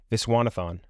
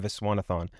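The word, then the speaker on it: Viswanathan: I always get her name wrong. Visanathon. Geraldine Viswanathon.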